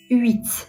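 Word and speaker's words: huit: 8 ü. Fransızcada Hiçbir şekilde telaffuz edilmiyor. O yüzden de h yokmuş gibi düşünün.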